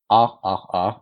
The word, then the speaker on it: RRR: Internet et ce film c'est r r R ou rrr si on le prononce à la française donc rrr donc pour